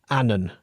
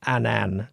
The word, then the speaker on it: Annan: Dumfries and, Carruthers and, as I'm reliably now post-informed, Annan. Not Annan, as I was pronouncing it, but nevertheless, there it is.